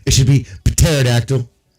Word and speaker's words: pterodactyl: And pterodactyl. Why is the P silent? Why the is the P silent? It makes no sense. It should be pterodactyl.